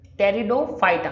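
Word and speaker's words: Pteridophyta: So next सब group है टेरिडोफाइटा, P silent है, टेरिडोफाइटा।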